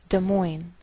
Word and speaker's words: Des Moines: Note that we treat the name of this capital like one word, and the greater stress is on the second part, so we say Des Moines, Iowa.